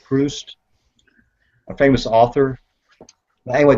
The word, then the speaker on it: Proust: I want to say Proust, but I believe his name is pronounced Proust, a famous author.